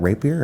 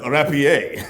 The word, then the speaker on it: rapier: to pick up that Raper and whoa whoa whoa whoa whoa pronunciation is key Rapier oh okay let's let's